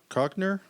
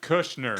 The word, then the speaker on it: Kushner: Co Cockner. How do you say that? David Kushner.